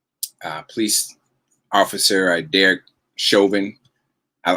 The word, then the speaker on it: Chauvin: police officer i derek chauvin i i liked it when they started out saying shalvin or chavin or something like that mispronouncing his name i loved it i